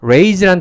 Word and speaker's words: raise: 첫 번째, 이 rise란 단어는요, 발음기호상 이 모음이 I 발음이 납니다. 그 다음에 raise란 단어는 발음기호상 모음이 A 발음이 나는. 그래서 rise 이렇게 읽고요. 그 다음에 이 단어는 raise 이렇게 읽는 것이 가장 큰 첫 번째 차이점입니다.